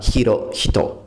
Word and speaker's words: Hirohito: alleggerito delle aspirate Ma la h aspirata in giapponese va pronunciata sempre senza eccezioni Quindi come Giappone diciamo nihon con l'h e giapponese diciamo nihonjin questo nome sarà hiro hito esaminando i due ideogrammi